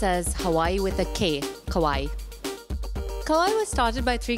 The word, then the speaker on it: Kauai: Kauai is the biggest island in Hawaii it's pronounced as Hawaii with a que kawaii Cohen was started by three Californian voice could